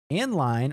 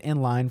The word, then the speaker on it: endl: So you're going to say less than, inline, or endl. You're going to hear me pronounce it inline for the rest of my life.